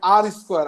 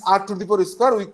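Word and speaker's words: R²: It's pronounced like R square, R to the power square. It's called, it's not, uh, we don't call it R to the power square, we say it R square.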